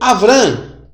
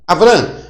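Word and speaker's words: אברם: Como é que se lê Abrão? Olha, se lê Avram. Avram.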